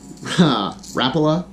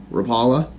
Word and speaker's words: Rapala: gonna see was this Rapala Rapala depends on how you say it rip and wrap oh five which is